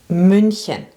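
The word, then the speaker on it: München: Some cities are really different like Munich. We say Munchen. So the Germans have this um U with two dots. That is an U. So it's spelled Mhen and pronounced Mhen.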